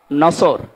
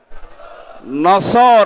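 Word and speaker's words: نصر: মানে ইগল পাখি এজন্য যারা এই সূরাটা পড়তে গিয়ে সওয়াদ না বলে সিন দিয়ে উচ্চারণ করেন আপনার কিন্তু নামাজ হবে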